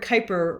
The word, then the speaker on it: Kuiper: the kuiper belt and that word kuiper rhymes with viper and these are a